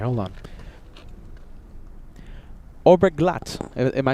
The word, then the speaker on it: Oberglatt: Oberglatt. Am I saying that correctly? Oberglatt.